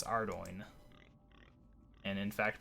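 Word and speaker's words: Ardougne: that he can't pronounce Ardoyne and in fact pronounces it in probably one of the worst possible ways I prefer our down myself if nothing else there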